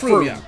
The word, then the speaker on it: Frome: Okay, in my defense, I watched an interesting video the other day about the English city of Frome, which is spelled Frome, and it's pronounced Frome.